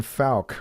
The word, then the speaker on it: Fowke: that their former CEO, Ben Fowke, or Folk, I think is how you pronounce it.